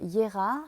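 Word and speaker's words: Jera: Alors c'est la rune des moissons qui s'appelle Yera, ça s'écrit J-E-R-A.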